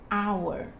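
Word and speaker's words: hour: que a gente tem o uso do H na palavra e esse som é mudo por exemplo a Nessas horas por exemplo our our e a gente não pronuncia Então não leva tudo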